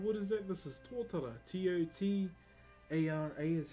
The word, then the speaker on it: tōtara: This is tōtara. T-O-T-A-R-A is how you spell it.